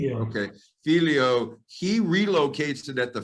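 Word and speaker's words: figlio: take that am i going to am i pronouncing it correctly he said felio okay filio he relocates it at the front that seems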